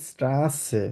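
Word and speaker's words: Straße: আমরা কিভাবে বলবো স্ট্রাসে তো এটা হচ্ছে ডাবল এস যেভাবে থাকে ছয় এর মত উচ্চারণ হবে আমরা কিভাবে বলবো স্ট্রাসে স্ট্রাসে মানে কি রাস্তা আমরা যে রাস্তায় যে চলাফেরা করি সেটাকে কি বলা হয় স্ট্রাসে স্ট্রাসে একদম ছয় মত উচ্চারণ করে আমরা বলবো স্ট্রাসে ঠিক আছে তো চারটা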